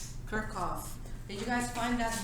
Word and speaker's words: Kirchhoff: oh in your calculator this is pronounced kerkhof they used to be